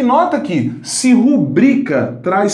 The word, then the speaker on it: rubrica: A palavra vou cortar aqui, olha, não há acento, essa palavra não é rúbrica, a palavra é rubrica. Rubrica. Isto é, a sílaba tônica dessa palavra está aqui, olha, na penúltima posição.